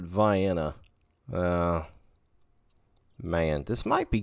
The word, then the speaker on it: Vienna: right outside of uh it looks like Vienna but they pronounce it Vienna uh man this might